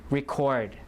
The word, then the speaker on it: record: fear uh and then this one is a verb we talk about stress record record so stress is on the second syllable occur occur and then